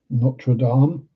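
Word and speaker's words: Notre-Dame: And yes, that's how it's pronounced. Notradam, notraame.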